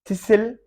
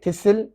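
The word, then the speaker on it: thistle: थिसिल, T silent है, थिसिल।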